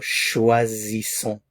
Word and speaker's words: choisissons: So choisissons, choisissons. Notice the difference in pronunciation here. Z and s.